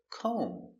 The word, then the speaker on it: comb: Example, comb. No comb b. The B is silent. Comb.